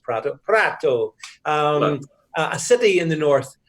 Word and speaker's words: Prato: in the north look at a tone like Prato and it's pronounced product prat Oh a city in the north textile manufacturing city